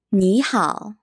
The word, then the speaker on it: 你好: When you see two third tones together,The first third tone becomes a second tone. Instead of saying 你好, we say 你好.